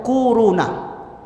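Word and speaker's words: كورونا: Waw, ha, mim, alif, lam, ka, waw, ro, waw, na. Corona. Corona. Bacanya tuh kuruna.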